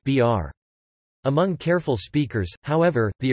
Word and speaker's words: bir: A common example is the Kazakh word for one, bir, pronounced br.